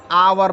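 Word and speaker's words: hour: आव जैसे एच ओ यू आर इसको हम आवर पढ़ते हैं आप कहेंगे एच लिखा है और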